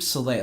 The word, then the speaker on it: Soleil: Well, the name Soleil, and that's spelled Solea.